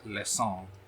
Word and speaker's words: leçon: It's leçon.